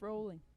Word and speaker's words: Rowling: It's Well- pronounced rolling.